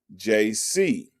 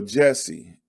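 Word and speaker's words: J.C.: enrolled at the school he pronounced his name jc in his southern accent which was mistaken for jesse and since then he was known as jesse owens in his youth owens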